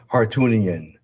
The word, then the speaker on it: Hartunian: Hartunian.